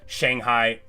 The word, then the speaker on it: Shanghai: It's not Shang, it's never ang. Nothing rhymes with bang is what you learn in Chinese history class, right? It's the only thing I know is if it rhymes with bang, I'm saying it wrong.